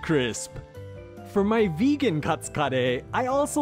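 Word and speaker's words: カレー: Katsu kare consists of two parts. There's the katsu, or cutlet, and the kare, which is just the Japanese pronunciation of curry.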